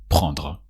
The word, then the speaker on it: prendre: So you conjugate want, on veut, and then the infinitive prendre. With a dr sound at the end of prendre.